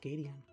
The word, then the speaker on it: Gateon: I think it's pronounced Gateon. Yeah, it's Gateon because Gate Ocean.